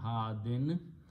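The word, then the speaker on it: هادٍ: Okay, when you stop at the ayat or at the end of the sentence, then hadin is pronounced as had, like you have a sukoon here, had.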